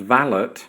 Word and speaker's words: valet: might think of a valet often pronounced vallet as a male servant